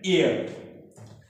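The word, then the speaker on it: heir: ई आर आर, एयर, एयर भी एक शब्द है, शुरू हुआ है किससे, एच से, और एच भी क्या है इस वर्ड में, एच भी म्यूट है, साइलेंट, क्या है, एच भी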